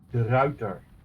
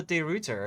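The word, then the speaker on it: De Ruyter: java the tier four the router i was wondering about how to pronounce that i've always called the day rooter and i i never thought it was right no it's that one and that would translate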